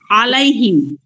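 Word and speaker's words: عليهم: টানতেছেন এখানে কয় আলিফ টান দিচ্ছি না হুজুর আলাইহিম টান হবে না টান হবে না কিন্তু হয়ে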